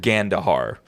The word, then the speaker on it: Gandahar: uh the director Renee laloo and this is gandahar is that pronounced right yeah yeah Gand gandar okay get into it these are all adult